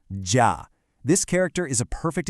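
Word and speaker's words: 家: Okay, let's start with the first character, J, which is pronounced ja.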